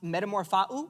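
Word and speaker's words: μεταμορφόω: The Greek word for transformed is pronounced metamorphou.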